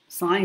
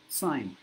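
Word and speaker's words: sign: জিটা উচ্চারণ হয় না সাইন যেমন সাইন সিগনেচার সিগনেচার বলার সময় কিন্তু সিগনেচার বলছি সিগনেচার কিন্তু যখন সাইন বলছি তখন জি টা উচ্চারণ হচ্ছে না সাইন সাইন হেয়ার সই করো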